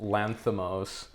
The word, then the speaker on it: Lanthimos: How is it actually pronounced? Lanthimos.